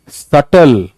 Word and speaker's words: subtle: This is सटल नॉट subtle. This is subtle.